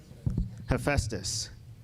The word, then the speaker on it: Hephaestus: For Hephaestus, if I pronounced that right? No? Okay. What's that? Hephaestus. Thank you.